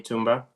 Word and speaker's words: Thumba: good evening neighbors uh I'm tumba the H is silent in my name oh I'm sorry sorry